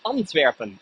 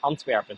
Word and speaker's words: Antwerpen: And today in Antwerpen, or in Dutch we say Antwerpen, Antwerpen. So it's only a little different pronunciation.